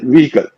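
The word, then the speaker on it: vehicle: अच्छा व्हीकल का बता दूं, व्हीकल में एच का उच्चारण नहीं होता, हम लोग व्हीकल कहते हैं, इसमें हाँ। एच साइलेंट है, तो इट इज व्हीकल, व्हीकल। हाँ है ही नहीं।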